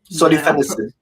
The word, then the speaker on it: solifenacin: Solenos.